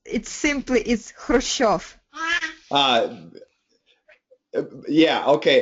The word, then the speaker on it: Khrushchev: It's simply Khrushchev. Yeah, okay. The American pronunciation, we say Khrushchev.